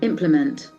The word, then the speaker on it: implement: m e n t so we see the accent of that word implement Implement thatself also the first syllable Implement beautiful Implement Implement implement it has got three syllables equipment you start using